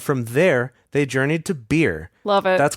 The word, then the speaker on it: Beer: there they journeyed to beer that's correct it's spelled b e r just like that beer hell yeah that that